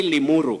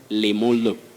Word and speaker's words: Limuru: Betty, can you say Limuru? Yeah. Limuru. You know what? Yeah. At one stage in life, somebody told me, sometimes you can hear of Limulu. But first language influence, it's widespread.